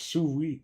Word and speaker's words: sous vide: Pronounced sous vide.